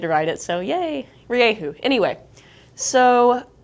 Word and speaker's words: Rieju: So Rieju, there's always some concern over the pronunciation. This is the closest way I can say it to how the Spanish do, and I think they know how to say it.